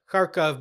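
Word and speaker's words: Kharkov: the Ukrainian city of karov karov being the Russian pronunciation the city's often referred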